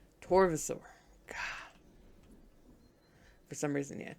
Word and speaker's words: Torvosaur: These are two of the Tarbosaur, or I keep wanting to pronounce it the B. I know it's a V. Torvosaur.